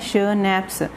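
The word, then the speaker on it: Schnapps: देखने में ये SCH स्पेलिंग कुछ और ही लग रहे हैं, लेकिन ये प्रोनाउंस्ड लिख रखा है स्नैप्स, इसको ऐसे प्रोनाउंस करने हैं।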